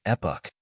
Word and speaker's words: epoch: English it is spelled as EPO the correct pronunciation of this word is epic epic means a particular period of time in